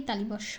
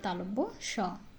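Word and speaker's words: তালব্য শ: র ল তালব্য স অনেকেই তালিব স বলে থাকেন না হবে তালব্য স তালব্য স মূর্ধন্য স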